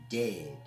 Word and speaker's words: Djed: to explain to you the proper pronunciation of de Jade this is d je d now if you go back to ancient Egypt times this spelling was more like D D this is done which is basically dead and so that were digit is pronounced dead the same way is